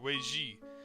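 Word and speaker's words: 危机: That outcome is reflected in the Chinese written character translated as crisis, which is pronounced Weiji, and consists of two characters.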